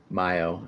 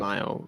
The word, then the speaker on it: Mayo: Mayo is how it's pronounced. It's Okay. Mayo. Mio, Oh, he is Mayo.